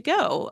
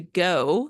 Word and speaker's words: Gogh: But the website is Painting to Go, spelled like Vincent Van Gogh, G-O-G-H, pretty clever, .com, Painting to Go.